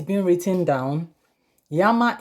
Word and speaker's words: llama: it's been written down yama is llama you just say you think it's lama as against yama and by the way